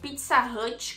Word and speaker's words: Pizza Hut: Bom, lá fora, lá na gringa eles pronunciam Pizza Hut como Pizza Hut. Pizza Hut, entendeu? Não é pra baixo, Pizza Hut. Pizza Hut. É Pizza Hut, entendeu? Esse hut é pra cima, então Pizza Hut.